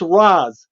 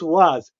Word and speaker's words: Ra's: ask him, is it Ra's al Ghul or is it Ra's al Ghul? Because it's Ra's. It's Ra's. He said it for me. He goes, it's Ra's.